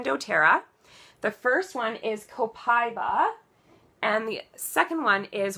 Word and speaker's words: Copaiba: And then Copaiba, which is actually pronounced Copaiba.